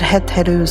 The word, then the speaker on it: Het-Heru: Heth which means house and Heru which means Horus.